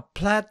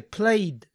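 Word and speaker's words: plaid: a llamar comúnmente a plat shirt a plat shirt noten que no se dice played tiene que ser pl plat shirt Esta es una palabra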